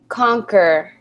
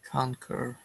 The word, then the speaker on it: conquer: air is tightly vegetation excellent this word is pronounced conquer conquer excellent um generally I'm qu is how you